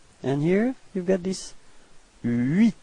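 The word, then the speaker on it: huit: Okay, so you pronounce the final T, but then H, so the first letter is not pronounced. So you get this first sound is U plus I, and it gives you this UI, UI.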